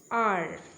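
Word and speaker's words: hour: এবার ব্যতিক্রমী একটুখানি খেয়াল করো এই জায়গাটা, আবার অ্যান আর। এখানে আর এর ক্ষেত্রে এইচ কিন্তু সাইলেন্ট, ওই জন্য ও ইউ ওয়ার্ডটা শুধুমাত্র উচ্চারণ হচ্ছে।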